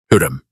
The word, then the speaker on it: Hürrem: Hurrem. Two syllables. The first one like a breath. The second one like a question.